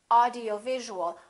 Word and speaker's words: audiovisual: word like this, audiovisual, audiovisual has 6 syllables, audiovisual. In that case, it's very important to know which syllable is stressed. In this case, it's going to be right here, audio-visual. Audio-visual. How do we stress a syllable? We make it longer and louder and higher in pitch.